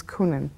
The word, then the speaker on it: Coenen: is my maiden name my married name is kunin c-o-e-n-e-n kunin all right and what's your date of birth november 1st 1947.